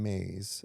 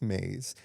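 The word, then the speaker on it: Myss: have read named Caroline Maize and it's actually my SS but I heard Oprah pronounce it so I think it's Maze.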